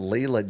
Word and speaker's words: Leila: by the name of Leela Jane. So our hashtag is going to be Leela. Now, not like our moderator Leela with 2 E's. Leela Jane is spelled Leila.